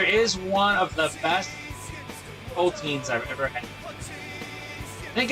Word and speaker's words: poteen: There is one of the best Poteens I've ever had. I think it's technically pronounced Poteen.